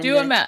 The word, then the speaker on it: Duhamel: Duhamel. I don't think it's not Deschamel. I just want to say I don't. I feel like Josh. you say it like it rhymes with bechamel, which is.